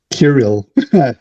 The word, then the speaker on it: Kirill: I'm taking Kirill. That's how we say his name.